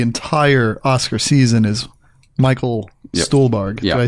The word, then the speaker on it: Stuhlbarg: And the all-star of the entire Oscar season is Michael Stuhlbarg. Did I say it right? Stuhlbarg, yeah.